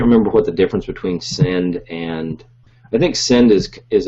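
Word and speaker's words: Synnd: I've used Send, S-Y-N-N-D, I think. It's spelled kind of funkily. It's like syndication. It's like the first part of that word.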